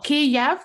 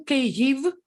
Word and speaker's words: Kyiv: No. Kiev, it's Russian. Kyiv. It's Ukrainian way, and it's only right way because it's Ukrainian city and it should sound Kyiv.